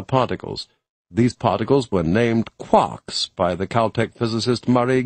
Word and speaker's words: quark: master Mark the word Quark is supposed to be pronounced by quart but with a k at the end instead of a t it is used to